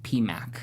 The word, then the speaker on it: PMC: This first one says, "Love you guys" with 4 exclamation points, and this one comes from PMC, pronounced PMAC.